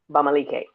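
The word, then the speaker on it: Bamileke: I found out I guess about 3 years ago, if that long ago, that my maternal line is Bamalike. I hope I'm pronouncing that right.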